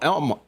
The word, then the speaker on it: Alma: was in uh El Elma they call it Elma even though it's spelled a ma a you know we're not